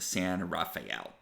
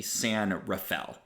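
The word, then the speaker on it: San Rafael: so you know how would you think to pronounce that a lot of people think San Raphael which makes a certain amount of sense that's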